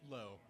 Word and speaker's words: Loew: Low. Low. Low. I know. I should have I should I should have been due diligent and just known that. One syllable. It's easy.